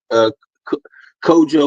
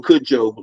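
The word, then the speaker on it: Cudjo: But anyway, our chaplain general's great grandfather was named Kojo or Kudjo, depending on how you pronounce it, Lewis.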